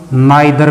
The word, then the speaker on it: neither: तो इसके जैसे ये भी बोला जाता है नीदर, और इसको हम नाइदर भी बोल सकते हैं। तो दोनों सही हैं। कभी ये सोचे नीदर कहना सही है, नाइदर कहना भी उतना ही सही है।